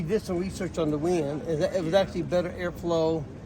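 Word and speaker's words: Weiand: Some people pronounce it YN, but I think it's actually supposed to be pronounced wind.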